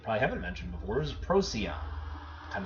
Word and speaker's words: Procyon: Evan mentioned before as Procyon and it sounds like an animal robot something rosy on but this is one